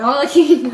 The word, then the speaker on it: Arlecchino: How do I pronounce her name? Arlecchino? Arlecchino.